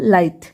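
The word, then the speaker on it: light: For example लाइट। यहां पे देखिए आई जी एच है तो यहां पे आई जी एच को आई सिर्फ आई पढ़ेंगे। बाकी जी और एच जो है वो साइलेंट रहेगा।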